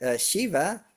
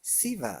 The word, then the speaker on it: Shiva: And sometimes I hear Shiva pronounced Siva.